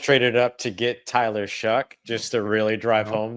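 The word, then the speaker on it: Shough: Uh the New Orleans Saints did get Tyler Shuck, that's spelled with a g h for those of you who hate the American English language.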